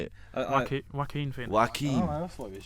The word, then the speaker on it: Joaquin: Joaquin. I thought it was Jackie.